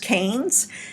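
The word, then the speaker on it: Cairns: it says karen's with the sea it's actually pronounced Cannes and I've been there that's how I got to the Great Barrier Reef so there's nowhere near anything if you're going to Cannes to see the Great Barrier Reef nevertheless it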